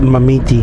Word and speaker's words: Marmite: But they pronounce it Mamiti.